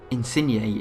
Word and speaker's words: Insigne: It's Insigne. It's Insigne. That's it. Insigne. That's how you pronounce his name. I'm pretty sure.